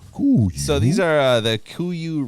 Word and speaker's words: Kuiu: So those are your how do you pronounce that? Kuiu. Kuiu.